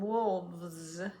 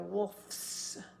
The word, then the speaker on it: wolves: add the S sound so we're going to change that F to a v because we've got vibrating F doesn't vibrate s is vibrates so it's easier just to keep vibrating so it became wolves instead of wolfes wolves elf became elves